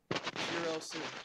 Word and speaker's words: Shirosu: So, Shirosu. Okay. Kind of like Shiro in Long Horizon, and then add a SU.